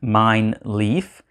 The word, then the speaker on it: Mijnlieff: at it on the table alright i have mine leaf from xv games on the table here and that is how you pronounce this game mine leaf and mine leaf is an abstract strategy game for two players